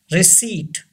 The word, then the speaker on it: receipt: blah blah number two receipt say this word recede you know in this word P is silent we don't pronounce P this seed say this